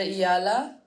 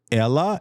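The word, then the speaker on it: Eala: Like all the people I would have said Ella and they're like there's the Y. Well, there's no Y. I know there's no Y, but like you're supposed to pronounce it like a Y. I don't know.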